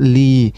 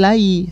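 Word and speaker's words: لِي: bersambung dengan domir saya, sehingga dibacanya li, bukan lai ya. Bukan lai, tapi kita baca dengan harokat kasroh.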